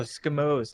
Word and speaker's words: Skimos: Oh, Skimos, like Eskimos without the S.